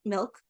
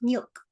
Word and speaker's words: milk: Because she was she was Mexican, and if you are from a Latino country, you know that the I is pronounced like E. So, it for her it wasn't milk, it was milk.